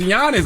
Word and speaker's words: Giannis: I'm like they trying to G silent it's Giannis I ain't never heard nobody say gianis Giannis it's like y a n n g